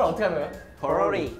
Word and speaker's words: 포로리: 포로리 포로리 포로리 아 성조가 있네 또 and 포로리 and